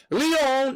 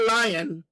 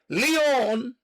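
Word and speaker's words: Lyon: You could go from Leon, Paris to Leon, I'm pronouncing my French. Leon, not lying, Leon.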